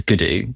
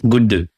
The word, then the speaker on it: Gundu: So the dog's name, like the way people pronounce it here is Gudu, but in Hindi it's Gundu.